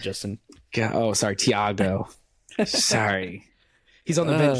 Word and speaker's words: Thiago: I'm SI shouting out theago or Virgil the H good is silent the H is silent Justin oh sorry Thiago sorry he's on the